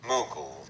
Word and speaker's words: Mughal: In the 18th century, India was nominally ruled by the Mughal Empire. I bet I'm saying that wrong, aren't I? Mughal. Yeah, that sounds more plausible.